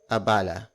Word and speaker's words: abala: ha bala essentia ha ha bala pasensya ha abala pasensya spelled as p a s e n